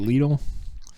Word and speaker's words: Lidl: So Fresh Market, Walmart, Redner's, ShopRite, I forgot about ShopRite, Whole Foods, and Lidl, how do we pronounce it? Is it Lidl?